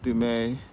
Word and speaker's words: Point Dume: Although, you know, that's not how it's spelled. It doesn't sound like doom, it's Dume. But Doom sounds so much more catchy, doesn't it?